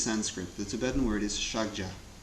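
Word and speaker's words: ཕྱག་རྒྱ: The Tibetan word is shagja. 2 syllables, the first of which, shak, Milarepa says, is a code word for emptiness. The second word, ja, which means in Tibetan extensive or vast, is the syllable which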